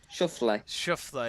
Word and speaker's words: Schauffele: So the correct pronunciation again was Shuffle, yeah. I think that's it.